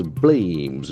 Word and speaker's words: blame: must perform something us blames we get the first verb of the day b l a m e blame blame we get that beautiful a sound blim BL aim blame to say or think